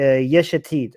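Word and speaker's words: Yesh Atid: rules over is uh yeshetid okay this is the one that i have the biggest problem with because his name rhymes with the name of his party and that's why it's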